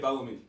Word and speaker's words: Belleme: That's what how do you say it? I say it Belleme. Belleme. Yeah. Just like that, Belleme. Just Belleme. Like Bill Bellamy.